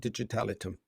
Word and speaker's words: Digital Item: founded digital item did did I pronounce that correctly just call it digital itum digital itum okay so um first of